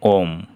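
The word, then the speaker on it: womb: এইখানে বি এর পরে কোনো বাওয়েল নেই, এর পরে বি আছে, এটার উচ্চারণ হলো ওম, মাতৃগহ্বর।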